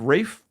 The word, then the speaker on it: Ralph: The Return features a reunion of Rafe Fiennes, or Ralph Fiennes, for those of you who don't know how to pronounce his name, and Juliette Binoche, who co-starred in a little Oscar magnet called The English Patient.